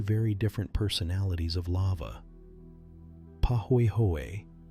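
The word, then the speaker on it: pāhoehoe: Poy hoy pronounced pah hoy hoy is the one that moves more slowly spreading in sheets and forming those beautiful swirled ropey surfaces.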